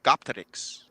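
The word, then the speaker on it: Göktürks: The Gopturks, the blue Turks. The Gothics? Not Gothics. Gop, G-O-P, Turks, T-U-R-K-S. Said or pronounced in Turkish, Gopterics.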